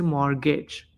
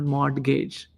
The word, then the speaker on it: mortgage: He couldn't understand because the t is silent. I never knew. So you are supposed to say mortgage not mortgage.